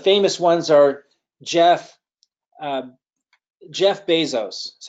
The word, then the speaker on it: Bezos: some of the famous ones are Jeff Jeff Bezos is how he pronounces his name some people say Bezos but it's Bezos according to him and it's Steve Jobs and